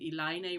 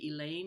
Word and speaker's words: Eliane: us eliane nogetta godzi and i'm using iline rather than we would say elaine in english but it's important i think to use the portuguese pronunciation eliana she is assistant